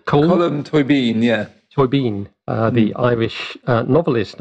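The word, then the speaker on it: Colm Tóibín: Colm Toibin, is that how you pronounce his name? Colm Toibin, yeah.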